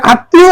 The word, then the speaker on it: আত্মীয়: এরপরে আত্মীয় এখানে ত এর সাথে ম ত দুইবার উচ্চারণ আত্মীয় বস স্তুপ বস স্তুপ